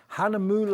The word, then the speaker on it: Hahnemühle: which is we've been talking about how to pronounce this all day long Hanam moule is the brand from Germany let's just show